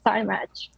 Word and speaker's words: SciMatch: I'm really excited to share with you things we do at SciMatch. Oh, and you actually pronounce it very, very correctly. Okay, so good. It's science with match.